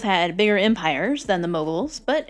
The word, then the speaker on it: Mughals: the mobile Empire well it's spelled with a u it's pronounced like an O moguls and this is a